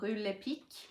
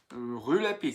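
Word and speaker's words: Rue Lepic: I got these on Rue Le Pic. Rue Le Pic.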